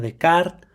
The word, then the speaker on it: Descartes: monaguillo que es René Descartes, que sí se pronuncia de kart, pero si hay personas que no pueden decir popocatepul o otro tipo de nombres propios en México, bueno, nosotros podemos decirle Descartes.